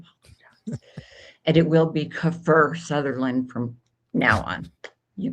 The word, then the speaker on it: Kiefer: Kiefer, Kiefer Sutherland. I've been Kefir pronouncing Sutherland.